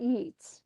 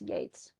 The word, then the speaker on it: Yeats: Okay, let's look at William Butler Yeats. And it's funny because his name is spelled like Keats, who we've already read a few poems by, but it's not Yeats. Don't call him, it's Yeats.